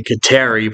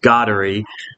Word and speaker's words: Kateri: this woman called Saint I'd say Kateri, but I guess it's pronounced Goddery, but I'll say Kateri because that's what I grew up saying.